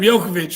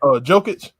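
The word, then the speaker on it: Jokić: But talk to me real quick, Herb, about your boy, what's his name, Jokovic or whatever. How you say his name? Jokic.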